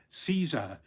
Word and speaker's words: Caesar: But in ancient Rome, that would have been Julius Caesar with a hard C, Caesar, which of course is how it um has lasted in places like Germany and and Russia.